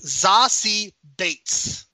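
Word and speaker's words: Zazie Beetz: this movie the way that she pronounced her pronounces her name Brian is zasi Bates uh okay there you go uh I don't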